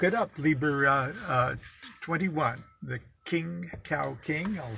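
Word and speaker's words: Khing Kang King: rare but look it up libra 21 the king cow king i'll spell that for you k h i n g k a n g k ing king cow king so there gang hee fat joy and hopefully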